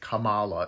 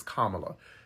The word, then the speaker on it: Kamala: secondly kot Kamala cuz you pronounced it Kamala in your video it's Kamala she is a black